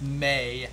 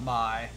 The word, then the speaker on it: Mai: Yeah, someone says it's pronounced May, not My.